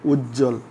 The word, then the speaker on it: উজ্জ্বল: যুক্ত ব্যঞ্জনের সাথে ব ফলা যুক্ত হলে বয়ের উচ্চারণ হয় না। যেমন আমি তোমাদেরকে দেখাই, আমরা যদি বলি যে উজ্জ্বল, উজ্জ্বল, উজ্জ্বল এরকম উচ্ছ্বাস, উচ্ছ্বাস, উচ্ছ্বাস, চাষ।